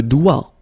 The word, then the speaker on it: doigt: Le doigt, okay, so don't be frightened by this G because basically you don't pronounce it and then the final T you don't pronounce it. So the only thing you get to pronounce